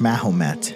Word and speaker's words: Mahomet: In Old French, the name Mohammed is pronounced Mahomet, which more than likely was misheard as Baphomet.